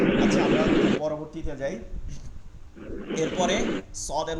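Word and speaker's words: صاد: আমরা পরবর্তীতে যাই এরপরে সদের উচ্চারণ ঠিক আছে সদ সদ যখন উচ্চারণ হবে তখন এইখানেই হবে এটা ঠিক আছে যে জিহ্বার আগা এটা সদ সিঞ্জা তিনটার মাখরাজ এখানে জিহ্বার আগা সামনের নিচের সানা সুফলা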